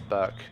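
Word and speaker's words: Berk: how's it going it's burke aka wait so that might be why my name is burke but it's spelled b-e-r-k for the record so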